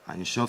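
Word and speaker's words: אין סוף: Einshof, c'est la correcte prononciation de sans limite en hébreu.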